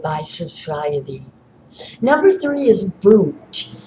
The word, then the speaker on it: Wundt: Number three is Wundt, and that is spelled with a W.